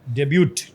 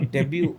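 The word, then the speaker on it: debut: डेब्यू हुआ पहली बार डेब्यूट सर डेब्यू नहीं बोलेंगे डेब्यूट बोलेंगे नहीं नहीं बहुत अच्छा जैसा लिखा हुआ था कहान हो अच्छा कहान हो टी साइलेंट है डेब्यू तो उसमें ना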